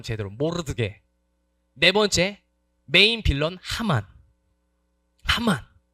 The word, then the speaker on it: 모르드개: 세 번째 모르드게. 발음 제대로 모르드게.네 번째 메인 빌런.